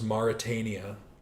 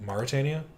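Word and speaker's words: Mauritania: Mali I know is Moritania. Is it Marut? I don't know how to spell it. Yeah. Ma Maritania. That's it. Maritania.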